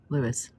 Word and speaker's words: Louis: It's even spelled the same way he spells it, L-O-U-I-S, Lewis.